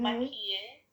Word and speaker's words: maquille: maquille. Remember, there's no accent on the final E. Maquille.